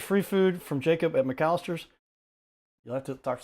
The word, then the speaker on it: McCallister: Jacob McCallister.